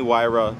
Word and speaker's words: Huayra: Guys, we went to go see the Pagani Huayra BC. You know, I say it properly now because I understand how to pronounce it.